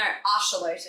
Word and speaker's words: axolotl: Yeah that's the way it's spelled but no axolotl is how you're supposed to say it.